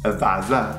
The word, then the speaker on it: Lavazza: Lavazza? Are you serious? Okay, no, our most popular Italian coffee brand is Lavazza. Lavazza. Lavazza. Bevo un caffè Lavazza.